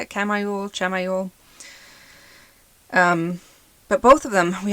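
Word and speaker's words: Chamuel: You have the angel Asmodeal, but you have the archangel Chamael, I think is how you say it. Chamael.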